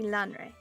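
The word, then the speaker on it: Lanre: I think it said Lanray in the audiobook. Lanray. Okay, this is another reason why I need you to correct me on my bad pronunciations. Well, the audiobooks themselves can have errors in them, but it's been consistently Lanray.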